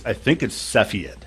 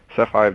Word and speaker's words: Cepheid: Do you know how to pronounce that? Yeah, I think it's Cepheid.